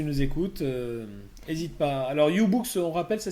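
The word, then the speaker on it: YouBoox: bon ben voilà voilà donc comme ça donc ububox hein si tu nous écoutes hésite pas alors ububox on rappelle ça s'écrit y o u B O O x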